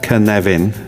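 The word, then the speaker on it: Cynefin: uh pronounced kvvin. Um for those of you who don't speak Welsh, uh the origin of the name itself is deserving of explanation.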